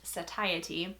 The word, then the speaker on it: satiety: move on to this word which is apparently pronounced satiety I would give a 6 out of 10